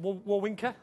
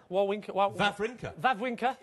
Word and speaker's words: Wawrinka: Then I just watched, I can never pronounce it, Wawrinka? Wawrinka.